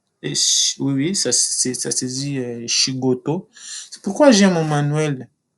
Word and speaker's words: shigoto: Oui, oui, ça se dit shigoto.